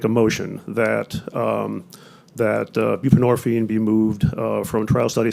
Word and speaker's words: buprenorphine: do this I want to make sure I'm pronouncing this properly it's uh bupren buprenorphine okay thank you I I'm not a doctor